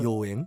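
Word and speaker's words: 妖艶: « Yōen ». Ding dong ! Correct. Alors, comment prononce-t-on le caractère « 恍 » à partir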